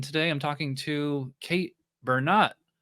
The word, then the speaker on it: Bernot: So people mispronounce it all the time as Bernot, wanting to make it very French. It is Bernot.